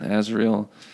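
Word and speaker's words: Asriel: pronounce it. No, it's Lyra and Will and Azriel, and Mrs.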